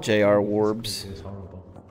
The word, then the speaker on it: JR Warbs: think you pronounced it i i was just said jr warbs okay good because that like just it's everyone pronounced like so many people just go like it's like junior junior's wardrobe i'll just like call